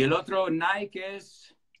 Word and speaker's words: Nike: Y el otro Nike es... Nike.